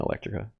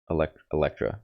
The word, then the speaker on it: Electra: Also, yeah, I need to listen to more Dorian Electrica. Oh, how do you say it? Electra. Dorian Electra.